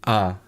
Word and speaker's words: ha: again oh okay so they don't say the H in ah meaning and so and is spelled ha a and it just say ah so it's it becomes